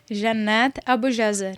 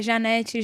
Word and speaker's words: Jannath Abujazar: pode ser acertei não qual é a pronúncia janat Abu jazar Jan Abu Jan janat Ah entendi E as pessoas devem errar muito assim o seu nome erram é Janet Jana Janet Jonathan Jonathan Jonathan é mancada né É mas acontece